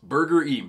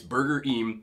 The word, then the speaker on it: Burgerim: Yes, it is pronounced Burger Em. People have said Burger, but I actually looked it up and I asked the employees. It's Burger Em.